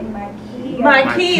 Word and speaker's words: Mykia: And to her left, we have the beautiful model, Mykia. Did I say that correctly? Mykia. And I've been saying it right the whole entire time.